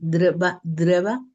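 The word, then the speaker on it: דבורה: Y en esa en esa en esa contexto también vemos que es Débora, cuyo nombre quiere decir abeja y se pronuncia dreva en hebreo.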